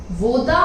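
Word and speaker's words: 我的: Next word is woman, same goes वो द, वोदा मतलब माई, मेरा। इसकी प्रोनाउंसिएशन भी आप दो अलग अलग कैरेक्टर्स में बोलोगे, वो द।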